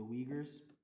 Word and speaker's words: Uyghurs: euger u y g h u r it's pronounced the uyghurs they're uh they live in china they're from